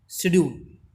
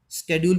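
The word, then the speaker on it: schedule: The world's most short after multi-percussionist with a mastery of some 1,000 instruments and hectic international शेड्यूल, स्केड्यूल भी बोलते हैं American pronunciation में इसको।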